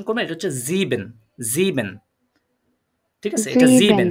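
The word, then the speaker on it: sieben: আইনসাইন জেক্সেন নয়ন হ্যাঁ এটা আরেকটু স্পষ্ট করে প্রোনাউন্সিয়েশন করবেন এটা হচ্ছে জিবেন জিন ঠিক আছে এটা জিন হ্যাঁ খেয়াল করেন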